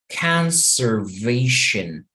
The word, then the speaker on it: conservation: Conservation. So this last syllable, T-I-O-N, vamos a intentar leer en vez de shon como gen.